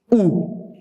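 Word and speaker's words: û: So, when you say 45, 52, like 67, you need to use ooh. Ooh. Ooh in the Kurdish language exactly means and.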